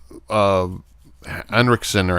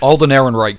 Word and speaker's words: Alden Ehrenreich: like Scott you said he just you know enric Center however the you say his name Alden Ehrenreich plead Hansel Alden Ehrenreich thank you uh that